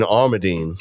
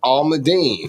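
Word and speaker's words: amandine: that green bean amadine almondine that's what I was told all my Dean all Ma and then Dean no I I thought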